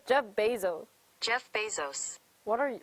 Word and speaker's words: Bezos: google hello google okay how to pronounce jeff bezo oh shoot jeff bezel bezo oh shoot are you programming while listen to me oh he's this person says jeff bezos jeff bezos what are